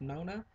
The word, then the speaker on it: Nonna: out there like that which I believe is supposed to be pronounced Nona that's not how we say it so I'm just going to go ahead and say nana sorry if you know